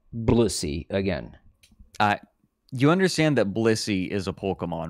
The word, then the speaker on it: Blissey: You understand that Blissey is a Pokemon, right? Blissey. Yeah, Blissey. Blessussy. What? You're adding... You don't need to add extra syllables to this.